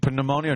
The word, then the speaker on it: pneumonia: no the P okay pneumonia no the p is silent then why put it